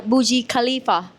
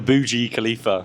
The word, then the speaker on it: Burj Khalifa: Yeah, so he's corrected me on spot when I pronounce the building. When I talk about Dubai, remember? I say Burj Khalifa. And then he corrected me. What did you say? It wasn't the Burj Khalifa.